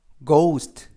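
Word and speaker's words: ghost: 발음합니다 뜻은 학교가 되겠구요 주인은 그 그리고 쥐 뒤에 오는 a 주는 묵음 오는 5 애쓰는 스 튀는 특 그래서 거 우 스 트 거 우 스 트 라고 발음합니다 뜻은 요령이 되겠구요 빠른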